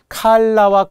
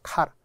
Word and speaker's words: 칼라: 칼라와 컬러가 다르죠. 칼라는 옷깃이에요. 종종 일본식 발음 L이라고 하는 분도 있고 카라라고 하는 분도 있어요. 카라. 칼라입니다. 칼라.